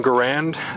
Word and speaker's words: Garand: Of course, this is the M1 Garand, just designed by John C. Garand. Notice the pronunciation difference there.